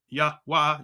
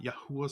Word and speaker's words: YHWH: And he gave him the name YHWH, pronounced Yahweh, Yahuwah.